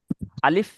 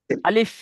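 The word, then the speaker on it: ألف: আলিফ যখন বলবেন এই যে দুটো ঠোঁট ভিজে অংশ মাঝখান থেকে হাওয়া বার আসবে। দেখেন আমার দিকে তাকিয়ে দেখেন আমার ঠোঁটটা কেমন হচ্ছে। আলিফ আপনারা দেখবেন আপনাদের দুটো ঠোঁটের মাঝখান থেকে একটা হাওয়া বার আসবে।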